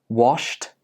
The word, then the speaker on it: washed: So a few examples are walked, helped, washed, and danced. Can you hear the t at the end of these words? Again, even though these words are spelled with an ed, they are pronounced with a t sound.